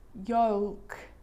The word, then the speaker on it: yolk: because the letter L is quite difficult to pronounce in all of these words, even for a native speaker. Cold, yolk.